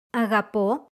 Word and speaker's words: αγαπώ: These verbs are just as common, but their stress moves to the last syllable in the active voice and the second to last in the passive voice.